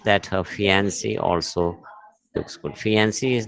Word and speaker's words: fiancée: So fiancé is male. Both are pronounced as fiancé, but there is just a difference in spelling.